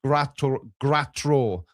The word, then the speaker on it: Gratro: So it's Morris Gratro. Rhymes with GoPro, apparently.